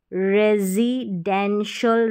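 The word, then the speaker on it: residential: यहां पर है रेजी यह एस को हम ज पढ़ रहे रेजिडेंशियल रेजिडेंशियल हो गया प्रेजी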